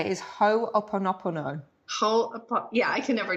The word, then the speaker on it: Ho'oponopono: Yeah, well, how I say it is Ho'oponopono.